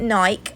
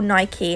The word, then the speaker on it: Nike: going to start with nike or nike i think it depends where you are how you say it um i'm at